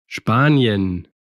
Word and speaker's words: Spanien: La S cuando precede a una P o a una T, también es una S silbante. Spanien, Aquí es un poquito como si estuvieras aspirando.